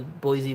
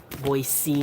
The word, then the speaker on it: Boise: And that part is right outside the Boise Botanical Gardens, so like they could have been brought in with plants from like California maybe.